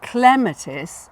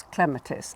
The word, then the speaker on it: Clematis: If it's only 2 or 3 syllables, and Clematis or Clematis is 3, then the stress is on the first syllable. So it's clematis as opposed to clematis.